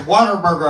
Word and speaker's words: Whataburger: It's where they pronounce Whataburger with the hard R. You know what I mean? It's Whataburger out there.